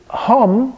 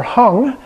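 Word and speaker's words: hūṃ: that can come up in interpreting this the hum or hung as it's usually pronounced in tattin is Hu m in Sanskrit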